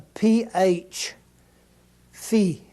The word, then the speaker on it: phi: English same word here Phi is the way it should be pronounced like the pH in the word phosphorus or photo or something like that is exactly the way it would be sounded the next word is